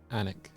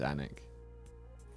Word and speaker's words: Alnwick: I think it's pronounced Anik.